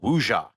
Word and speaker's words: wuxia: audiences its first big exposure to the historical epic genre the film belongs to, called wuxia. You didn't think I was going Nailed to it.